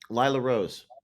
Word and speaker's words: Lila Rose: pronounced Lila Rose is that Lila's how she's pronounced Lila Rose yeah so you worked with her in the